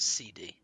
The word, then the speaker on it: SeaDea: on uh but it's but it's pronounced CD CD CD okay CD